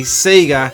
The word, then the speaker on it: Sega: that out of way I say Sega because that's how we were pronouncing it here in this country and in New Zealand Sonic the Hedgehog on